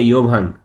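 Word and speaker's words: Jovan: হ্যাঁ, যেমন এরা ইয়া বলে না, যেমন প্লেয়ারদের নাম হয় না, যেমন যেমন জোভান, JOVN, এরা বলে ইয়োভান।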